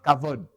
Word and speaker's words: Kavod: Comme Kabod, c'est Kavod.